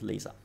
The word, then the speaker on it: Lisa: It's Lisa in Italian between vowels vibrates into Z.